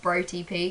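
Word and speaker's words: BroTP: just for your clarification it's pronounced bro tp because it's like bros and brothers um and then the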